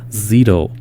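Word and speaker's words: Szito: I mispronounced his name it's spelled s z but it's pronounced Zito uh so here is an interview that I did with Justin Zito uh prior to Saturday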